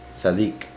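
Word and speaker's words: צדיק: Las letras Sadeh representan al justo, que en hebreo significa o se pronuncia Sadik.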